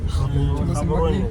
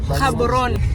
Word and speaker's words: Gaborone: How do you pronounce it? Gaborone. Gaborone.